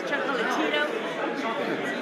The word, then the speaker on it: Chocolatito: He's like, Well, we gotta say it like Manic says Chocolatito. Like next time in Chocolatito. no, they cut out the A. Chocolatito.